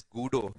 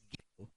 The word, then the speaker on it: Guido: His name is not pronounced as Guido, it's Guido.